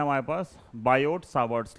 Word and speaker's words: Biot: ये है हमारे पास बायोट सावर्स लॉ बायोट में टी जो होता है वो साइलेंट होता है तो बायो बोल सकते हैं बायो सावर्स लॉ ठीक है तो बायोट